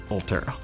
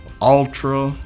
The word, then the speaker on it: Ulterra: Number one, nobody could say the name, pronounce the name, Ulterra. We heard Ulterra, Ultra, yeah, about every type spin you could have for the name is what we heard.